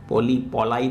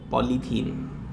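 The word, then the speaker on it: polythene: पॉलाई थोड़ी बोलते हो, पॉलीथीन आ गया।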